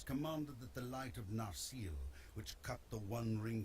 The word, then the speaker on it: Narsil: Well, I suppose a long E may be. Actually, that seems to be putting the accent wrong, because I would thought it was Narsil, maybe. Because I thought that it wasn't, that it's the penultimate, the penultimate syllable that's usually accented.